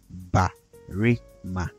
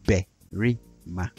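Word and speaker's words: barima: So, although we spell berima as b-a-r-e-m-a, we don't say ba-ri-ma, we say berima, berima.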